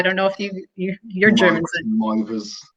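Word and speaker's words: Meiwes: Mivers, because in Germany they pronounce W's as V's. So it's Armin Mivers.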